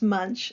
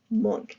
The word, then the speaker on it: Munch: the artist feelings Edvard monk um it's not pronounced Munch it's pronounced monk Edvard monk the sick child and he had